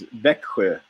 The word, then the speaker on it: Växjö: It's Växjö. Vecqua. It's like basically road lake.